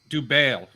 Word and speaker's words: Dubail: Well, Guys, yeah, I've learned on the show it's Dubail. Dubail. oh, so we were all wrong. Dubel.